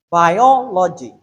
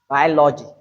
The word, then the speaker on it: biology: Note this, democracy, transparency, consistency, geography, biology. Note this particular word. It has 4 syllables in it. So it's not biology. It is what? Biology. And the stress is on biology.